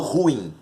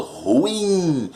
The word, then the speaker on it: ruim: Então assim, ó, olha a palavra ruim. Né? Eu não falo ruim, eu falo ruim. A sílaba tônica é a primeira de trás para frente. Então a palavra ruim, ela é uma oxítona. Por que ela não vai acento?